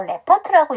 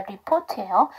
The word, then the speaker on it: report: 그러면 원형처럼 리포트 그다음에 이거 report를요 레퍼트라고 읽으시는 경우가 있는데 그런 발음은 없습니다 리포트에요 자 그 다음에 페이드죠